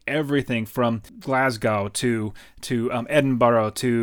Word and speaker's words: Edinburgh: from Glasgow to to Edinburgh - and sorry say it like I'm a Scottish Eddin battle - Stirling Castle where